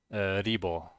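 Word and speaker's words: 리버: unit called Reaver, and the Korean casters are always pronouncing it Ribo, Ribo. So it's like this, Ribo. The ER in the end is often an O in Korea.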